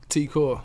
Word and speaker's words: T-Kor: yeah how do you say your name again Tiko Tiko okay and yours is famous DJ so famous